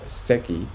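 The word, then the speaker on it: Secchi: devised by Petro Angelo Zeki pronounced SEI in the mid 1800s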